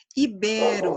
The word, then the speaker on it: ibero: Ibero, a sílaba tônica é o bé, tá?